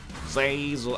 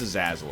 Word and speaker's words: Azazel: Zazel. I know it's Azazel, okay?